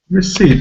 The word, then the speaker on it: receipt: vowel sounds received received though this word has a stress on the second syllable usually two syllable nouns